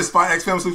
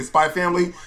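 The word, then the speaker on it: Spy × Family: know you did something some people say spy ex family please let's say spy family some people say spy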